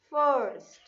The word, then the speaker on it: first: So R sound has to be there. First.